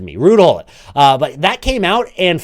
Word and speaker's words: Ruud Gullit: I believe he actually pronounces it Ruud Gullit, or at least that's how you're supposed to pronounce it if you're English. I'm not sure. It's very confusing. I'm going to keep saying Gullit because that makes it feels right to me.